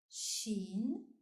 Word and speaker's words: ش: The 13th letter is pronounced Shin and is written from right to left on the line. Shin has 3 dots above. Shin, like in shua. Shin, shua.